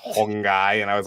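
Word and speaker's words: Huang Gai: then guy is like G AI but it's pronounced hongy and I was like that dude has the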